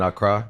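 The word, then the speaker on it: Accra: But now I spend a lot more time in Ara. That's the capital city. Yeah. Okay. Um that's how you pronounce it.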